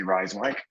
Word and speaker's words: Rijswijk: You asked before we came on, how do you say Rijswijk? Yeah. And here it is. Well, for Americans, that's a lot of J's in that word. Yes. And since they are silent.